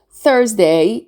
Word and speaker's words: Thursday: Thursday is the 4th day of the week. So the S sound here, we pronounce it as a Z sound. Thursday. For example, on Thursdays, we don't have homework.